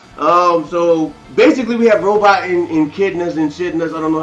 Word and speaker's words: Echidna: So basically we have Robot and Echidnas and Shitnas, I don't know how to say it.